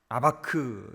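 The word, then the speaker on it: אבק: 야곱은 야코브 이렇게 발음하고 씨름은 아바크 이렇게 발음합니다.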